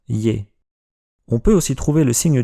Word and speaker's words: Ё: Yo est une lettre un peu bizarre. Le tréma est facultatif et bien souvent on écrit simplement Yé et c'est au lecteur de savoir si on doit prononcer Yé ou Yo.